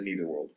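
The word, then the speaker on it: Neitherworld: takes place in the neither world and it's just Beetlejuice and Lydia going on adventures how they pronounce it in the show because it's neither here or in the ACT life I want to slap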